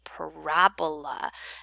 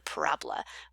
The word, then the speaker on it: parabola: When they say the vertex, they mean the tip of the parabola. And so the word parabola represents the shape of a quadratic function. So it's pronounced parabola, not parabola. It sounds like a disease, okay?